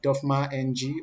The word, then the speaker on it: DofmaNG: You could check us out there, Dofma NG, or you pronounce it all together.